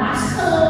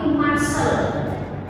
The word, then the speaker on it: muscle: Kalau huruf C kan bisa dibaca C bisa dibacakan muscle. Otot itu bukan muscel tapi muscel.